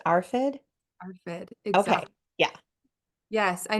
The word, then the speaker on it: ARFID: more is it pronounced arfid arid exact yeah yes I know a a lot of people mix up the r and the A and so we'll say afid but it is arit and it stands for